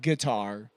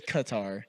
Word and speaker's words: Qatar: Um, it's not guitar. It's Qatar. Yeah. And because it's a Q. Yeah. QQar. But I think they say it like a like a deeper G. Like a deep throat G.